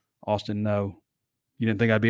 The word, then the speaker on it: Ngo: NGO. It's pronounced No. Austin No.